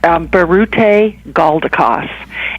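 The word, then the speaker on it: Biruté Galdikas: what the story is about and can you pronounce the lady's name please her name is Barret a gaul de cos but she always says she you can call we can call her dr.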